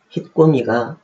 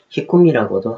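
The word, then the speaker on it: 引き込み: 일본어 발음으로는 히꼬미가 맞는 말입니다. 현장에서는 히꼼이라고도 하는데 이는 잘못된 말입니다.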